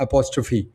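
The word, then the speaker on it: apostrophe: That is आल्सोेंट तो इट is pronounced एपॉस्टोफी ये actual में क्या है कि लास्ट में जो पी एच ई से एंड हो रहा है ये ग्रीक प्रोनाउंसिएशन की वजह से इस तरह से प्रोनाउंस किए जा रहे हैं।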